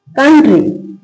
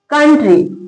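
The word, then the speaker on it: country: कंट्री। क्या पढ़ते हैं इसको? कंट्री। नेक्स्ट क्या है?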